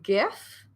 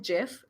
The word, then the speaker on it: gif: rather include uh a gif um i always confuse because i call it gif but i've had conversations with people who say no it's gif it's a hard g so i always like